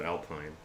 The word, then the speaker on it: Alpine: And yes, I said Alpine. That is the only way to say it. No other correct way to say Alpine besides Alpine. You say it the other way, it just sounds weird, for obvious reasons.